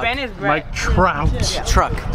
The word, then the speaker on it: Trout: Praise our Lord, Mike Truck. Ben is Mike Trout. Yeah. Truck. Say his name wrong again, I swear.